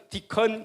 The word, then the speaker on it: deacon: 영어로 읽을 때는 디컨 그러면 됩니다.